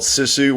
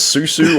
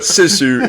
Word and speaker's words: Sisu: film is called sisu which really isn't that hard to pronounce uh it's just it's you just pronounce it phonetically but I think your problem is is you couldn't figure out if it was uh you couldn't remember you didn't know if it was Susu or suzu or or says who